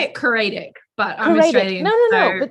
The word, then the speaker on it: Coraidic: author of the Coraidic Saga, who's, did I pronounce that correctly? I say it Coraidic, but I'm Australian.